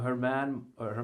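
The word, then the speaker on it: Germán: and this man named Herman Moro. It's spelled German, you guys, but I say Herman, and he says Herman, and That's close enough.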